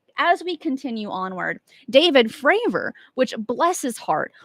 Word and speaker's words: Fravor: which bless his heart all the congressmen were getting his last name wrong calling him favor freyr fayer and I'm like guys I I know might be a little bit nervous but consistently his name was being said wrong bless his heart but